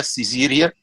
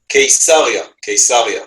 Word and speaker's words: Caesarea: In the house of Ezer Weizmann, I hope I pronounced the name rightly, in Caesarea, Caesarea. Yes, Caesarea. Could you say it again? Caesarea. Okay. Okay. From Caesar. Yes, that's right.